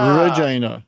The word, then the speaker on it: Regina: So not vagina, Regina. Okay? Well, he tells the story. He tells the story as to why that line is in the film, which is why Regina rhymes with fun.